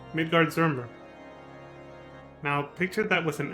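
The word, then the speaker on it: Midgardsormr: um mentioned midgard swarmer did you see the way he pronounced it that's probably the way you're supposed to write midgard zurmber now picture that was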